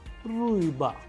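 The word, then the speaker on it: рыба: That is why it is a vowel, that is why the stress is falling onto it, and the pronunciation is ruiba, which means fish in Russian.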